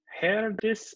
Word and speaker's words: Herdis: hi earnest hi now am i pronouncing your name right err this hair this so dear please correct me it's pretty good hair this stopped here I'll try it I